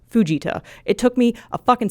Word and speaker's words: Fujita: I thought the enhanced Fujita scale was pronounced enhanced Fujita. I double-checked and found out that Dr. Ted was from Japan. It's pronounced Fujita.